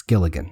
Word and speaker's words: Gilligan: It is Vince Gilligan.